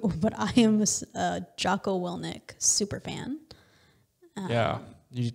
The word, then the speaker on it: Willink: Willink, is that how you pronounce his name? Willink. Yeah.